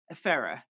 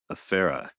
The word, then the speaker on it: Efere: So the way I tell people to pronounce it is F like the letter, air like the stuff around us, and then just R, Efere. Efere.